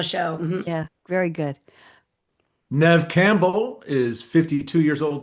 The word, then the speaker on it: Neve: Now, I never know how to pronounce Neve, whether it's supposed to be Neve or Neve, just Neve, right? Just Nev.